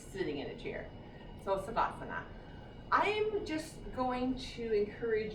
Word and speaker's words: Savasana: So your last pose is Savasana. So Savasana, or Shavasana, depending on who your yoga teacher is or how they spell it. I always say Savasana because that's how I was taught.